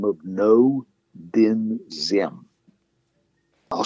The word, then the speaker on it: Dinh: the name of Ngo Dinh Diem. I'll spell it. N-G-O is his first, or rather his last name. His middle name is D-I-N-H, Din, and the first name is D-I-E-M, spelled like, or pronounced like Z-M.